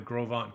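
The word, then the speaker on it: Gros Ventre: fall is around the grovant campground now a lot of people don't know how to pronounce grovan it's gros it's french g-r-o-s v-e-n-t-r-e so they say how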